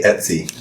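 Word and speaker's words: etc.: I think I say Etsy I say Etsy too is that wrong uh I think it's just different ways to say it but like uh someone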